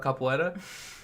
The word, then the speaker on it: capoeira: I bet you it's not pronounced like this. It is. You know how I found out about capoeira? It is pronounced like that.